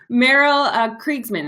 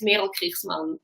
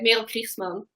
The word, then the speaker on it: Merel Kriegsman: So you're the real pronunciation is Merel Kriegsman, because I am Dutch, and I know you're kind of like a half Dutchy too, right?